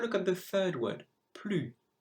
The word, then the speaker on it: plus: Have a look at the third word, plus. The silent letter is the S because you cannot hear it.